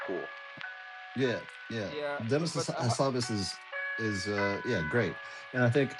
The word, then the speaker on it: Hassabis: Hassabis.